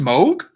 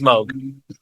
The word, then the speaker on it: Moog: yeah moo moo Mo yes it's it's it's pronounced Moog yeah yeah get the out of here it's it's Moog yeah Bob Moog uh the Moog Factory and